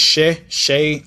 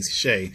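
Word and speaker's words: Sheh: Still don't know how to pronounce her last name. I think it's Shay. I call her Shay. I've been calling her Shay for years. I thought her name was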